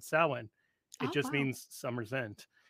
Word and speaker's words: Samhain: Samhain seems to be the people who I trust the most on this say Samhain. And there is such a date on the calendar called Samhain.